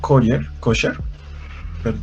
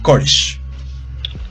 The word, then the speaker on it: Koresh: Se cambia el nombre a David Koshar. Permítanme lo reviso si lo estoy pronunciando bien, porque es importante. Koresh. David Koresh.